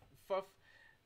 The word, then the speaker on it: ffuf: i was saying before like fluff uh that's what it's called or how it's pronounced it works similar to